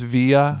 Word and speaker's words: Villa: It's actually pronounced via.